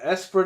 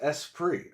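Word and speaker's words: Esprit: to be worth anything the espert is pronounced espr okay oh that's a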